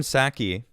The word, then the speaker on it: Psaki: So I only have how I say it, which I hear maybe the P is silent. Someone was talking about it, so it's Psaki or whatever.